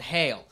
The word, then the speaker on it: Geel: There's this a small little village in Belgium called Hay-eel, right? It's spelled G-E-E-L because they're Belgium and don't give a shit about American letters.